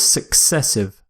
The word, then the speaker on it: successive: our next word is successive success essive it's similar to consecutive successive means something happens one after the other usually without a gap and the pronunciation success as in the word success of course so are